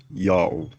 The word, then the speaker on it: Yao: The vowels A plus U contracted to O as in August were written in Akkadian with a U sign. Thus the pronunciation is also Yao.